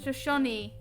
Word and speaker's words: Shoshone: And Shoshone is pronounced as Shoshone.